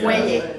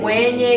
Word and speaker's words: mwenye: it's a silent M, right? Mwe. Mwenye. Yeah. You It's a say, silent M. Like Mwenye.